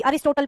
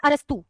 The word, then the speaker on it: अरस्तु: देखो इंग्लिश में स्पेलिंग ये होती है अरस्तु। की अरिस्टोटल पढ़ लेते हैं कई लोग इसको।